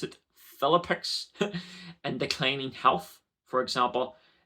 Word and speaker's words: Philippic: orchestrate this faing foes for example cisos Philip pronounce it philippic and declining health for example epilepsy according to